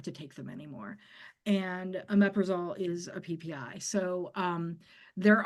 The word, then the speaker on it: omeprazole: Christy would like an alternative to, omeprazole. oh, I'm not going to be able to pronounce that one.